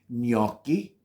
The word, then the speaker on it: gnocchi: very easy word gnocchi I think a lot of people get confused because they see the G in the front which happens to be silent so they pronounce it there is no such thing as it's gnocchi that's exactly where I'm gonna